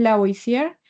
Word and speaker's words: Lavoisier: Como ven pues en la nota, esta ley fue establecida por bueno, cómo se pronuncia esto, profe? Antoine Lavoisier, y lo que Antoine, nos dice, bueno, Antoine.